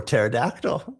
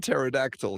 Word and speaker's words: pterodactyl: And so, in this book, P is for Is for pterodactyl. We do not pronounce the P in pterodactyl in English, right?